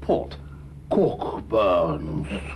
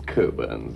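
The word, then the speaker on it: Cockburn's: enjoy a glass of pork burn not quite it's coburns actually yeah we don't pronounce the ck cold burns so that is a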